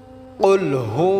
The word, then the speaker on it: কুলহু: নেই বিসমিল্লাহির রাহমানির রাহিম কুলহু আল্লাহু আহাদ কুল এটা আমরা বড় কাফ উচ্চারণ করব হুয়াল্লাহু ওয়াল্লাহ আমরা অনেকে